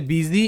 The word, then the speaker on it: busy: থাকে কোশ্চেন থাকে কেন এটা এরকম উচ্চারণ হয় বানানটা তো আলাদা তাই না কি সেটা হচ্ছে বিজি এই যে ওয়ার্ডটা এর অর্থ ব্যস্ত খুবই পরিচিত